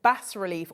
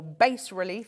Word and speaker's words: bas relief: Now, this is a technique known in the industry as 3D illusion bas relief, or base relief, depending on how you want to pronounce it.